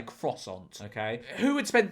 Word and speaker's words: croissant: I know some people get annoyed at me going it said quason. I'm not French. I'm not going to say it like that. I'm English. I'm going to say croissant.